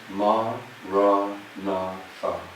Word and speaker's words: Maranatha: So we say it like this, 4 syllables: Ma, Ra, Na, Tha.